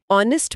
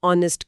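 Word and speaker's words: honest: ऑनेस्ट में S silent है। Vowel sound है इसलिए एन आएगा। शी इज एन ऑनेस्ट girl.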